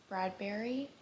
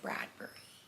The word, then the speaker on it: Bradbury: Bradberry. Bradbury. It's spelled Bur, so I'm going to say Bradbury. Ray Bradbury.